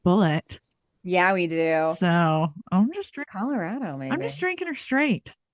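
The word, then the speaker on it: Bulleit: We know that it's pronounced bullet.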